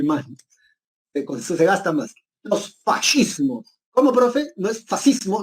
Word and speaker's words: fascismo: Los fascismos. ¿Cómo, profe? ¿No es fascismo? No, no es fascismo, es fascismo, porque en italiano, cuando tú leas SC, se pronuncia como sh, ¿sí?